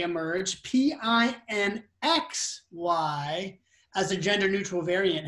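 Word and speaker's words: pinxy: we have a lot of flux from the pronunciation is pinksy i'm going to type it pin a is a term for a filipina right and then pink say emerge p i n x y as a gender neutral variant heather do you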